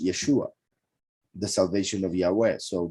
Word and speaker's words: Yeshua: HaMashiach, who would bring the salvation, which is pronounced Yeshua, the salvation of Yahweh.